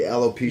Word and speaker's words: alopecia: What happened is that For those who didn't see, Chris Rock made a joke about it's alopecia. Is that how you pronounce it? The alopecia Yes.